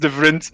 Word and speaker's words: Devriendt: It's pronounced Devriendt. Devriendt.